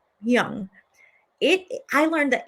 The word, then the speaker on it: Hmong: Now, she mentions it's spelled Hmong. I think it's pronounced Young.